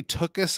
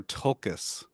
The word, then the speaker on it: Tolkien: say do you say took us or tolkas do you pronounce that l i pronounce the l because i don't want